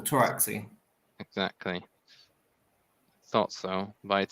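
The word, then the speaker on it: Pteraxii: It's a silent P, like pterodactyl, Taraxi.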